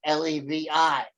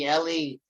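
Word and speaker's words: לוי: Ashkenazic and modern study, they say Levi. In reality, the phonetics of it would be Lewi, because the V's were all pronounced as with a W sound in scriptural study.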